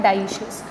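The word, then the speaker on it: dioecious: Bisexual को अपन ये बोल सकते हैं मोनोशियस और यूनिसेक्सुअल को अपन डायोशियस भी बोल सकते हैं, डाइशियस जिसका प्रोनाउंसिएशन होता है डाइशियस।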